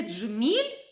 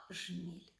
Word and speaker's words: джміль: говору це коли ми замінюємо звукосполуки Дж і ДЗ на з і ж і вимовляємо не дзеркало а дзеркало не джміль а жміль а до речі саме